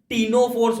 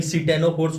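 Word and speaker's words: Ctenophora: टीनोफोर्स होता है। Spellings में कंफ्यूज मत होना। सी है तो कंफ्यूज हो गए भाई। सिटेनोफोर्स हो गया ये। नहीं नहीं देख लो। टीनोफोर्स है ये।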